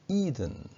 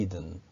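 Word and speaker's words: Eden: 생각이 됩니다 어 그리고 우리가 에덴동산 이라고 말할 때 이해된 이것은 영어로는 e 등 이렇게 발음합니다 아까전 험이 2등 에덴동산을 영어로 어떡 않은 법이 이든 어 이렇게 발음 하지요 어 어 이런 것들을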